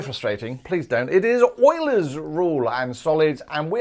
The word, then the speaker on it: Euler: and welcome today's urate video on solid and euler's ruled now the first thing is is that's not Euler please don't mispronounce his name is weird my surname has